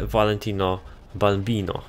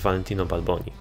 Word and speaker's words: Valentino Balboni: Ale przydałoby się wziąć w końcu moje upragnione Valentino Balbino. Valentino Balbino. Ja tak na nie mówię. Oczywiście poprawna wymowa to jest Valentino Balboni.